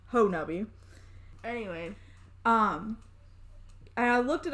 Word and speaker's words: Honobia: So, Honubby, yes, I will, Honobia, pronounced Honubby.